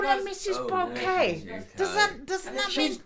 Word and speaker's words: Bouquet: Bouquet, the resident of the Go on, in it.